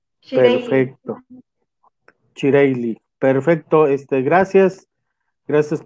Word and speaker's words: Chireylle: Chireye o Chireyi. Bienvenida. ¿O cómo se pronuncia? Adelante, compañera. Hola Gustavo, buen día. Un saludo a toda tu audiencia. Es Shireili. Shireili.